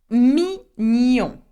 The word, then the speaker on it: mignon: Mignon.